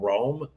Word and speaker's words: Roam: Rome. Rome. Yeah. How do you spell it? R O A M. Oh, it's just Rome.